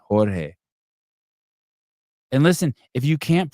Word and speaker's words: Jorge: It's not George Fernandez. It's Jorge Fernandez. Jorge.